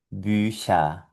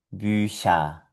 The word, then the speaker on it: Bücher: Y aquí tenemos de nuevo la C con la H y esto suena Bücher, Bücher, Bücher. Bien, aquí todas las palabras que pronunciamos con CH suenan sh.